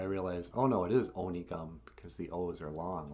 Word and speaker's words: Onigum: the ojibwe words correctly there's a town near my hometown called uh whatever one calls onygum but it's spelled with an o and my grandpa was called onigum and when i was